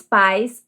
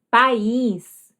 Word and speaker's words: país: Observe então que a pronúncia é diferente e também o que vai mudar aí vai ser o acento agudo. Então, se você está falando de país e esquecer o acento, a pessoa vai ler como pais.